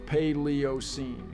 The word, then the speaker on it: Paleocene: you're right it's C paleocene and yes it's pronounced paleocene not C or whatever nonsense you were spouting the paleocene Epic indeed began about 66 million years ago